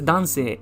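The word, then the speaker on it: 男性: Yeah, and this is dansei, and it means man, male. Okay, dansei is the pronunciation.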